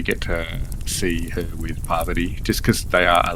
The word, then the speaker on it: Parvati: Oh, so how do you say it? Pavati. Is that it? Poverty. Poverty. Sorry. Emphasis on the first syllable.